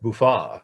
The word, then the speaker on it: Buffett: buffett mill road uh buffett was originally pronounced buffa it was a french swiss name uh and there was